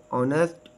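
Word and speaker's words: honest: when why where weather silent H एच इज not pronounce at the beginning of many words बहुत से अल्फाज के शुरू में एच आवाज नहीं देता जैसे आवर ऑनेस्ट ऑनर एयर और साइलेंट के के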